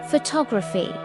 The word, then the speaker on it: photography: But photography. Photograph. Stress moves to second syllable.